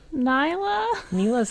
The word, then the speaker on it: Nilah: Nilah's how the casters pronounce it, so I'm going to trust him on this one.